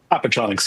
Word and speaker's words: Appetronix: Appetronix, yes.